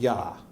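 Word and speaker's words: יה: full name you'll notice if you just pronounce the first two letters you got yah okay so so so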